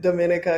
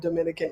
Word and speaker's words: Dominica: I know everyone pronounces it Dominica because they're thinking of Dominican Republic, but it's Dominica because it's French.